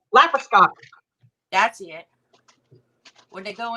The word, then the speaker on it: laparoscopic: students who were learning how to do the laxoscopy. I don't know how you say it. Stop. Yeah, where they were going in with those arm things. I can't say it now because you said it wrong. Laparoscopic.